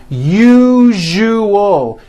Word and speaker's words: usual: Break it up into 3 syllables. U-ju-o. That second syllable, ju, the one with the underline, needs to be voiced. Put your hand on your throat and feel for the vibration in the second syllable. U-ju-o. Now put it together. Usual. Usual. Like that.